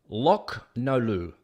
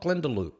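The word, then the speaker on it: Glendalough: the mess first man it's pronounced lock no Lou oh lock no Lou not Glendale lock not glendaloo all right I'm gonna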